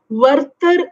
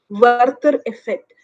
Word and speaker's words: Werther: to read up on this particular concept called verter effect yeah i'm going to spell it w-e-r-t-h-e-r werther effect now worker effect i mean it's a concept